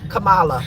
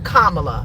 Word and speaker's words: Kamala: I would correct her it's not C Kamala it's Kamala right and U um